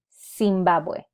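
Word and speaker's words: Zimbabwe: as a sound so if I wanted to pronounce the name of the country I would say sing bow boy I will not use em it would be seen bad boy I hope this helps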